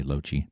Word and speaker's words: Lochte: That's how you pronounce my name, by the way, Lochte.